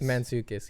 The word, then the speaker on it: Mantzoukas: I don't know how to say his last name, but it's like Jason Mantzoukas. Mantzoukas, yeah, there you go, yeah.